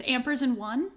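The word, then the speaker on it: AMPERS&ONE: And I said that strangely because of the way it's spelled. So the group name is spelled like Ampers, the symbol and then spelled out one. And then this album was like Ampers and all spelled out space one. So that's why I said it that way.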